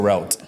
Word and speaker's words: route: I pronounce that correctly is it roote or route it's both you can say route so why did you